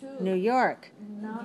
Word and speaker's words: New York: Never pronounce the stress on the word new. Always pronounce it on the next word. All right? So don't say New York, New York. That's not English. Maybe it's good in your language, but it's weird in English.